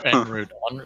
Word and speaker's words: en route: So is it en route or en route? En route. With the French pronunciation.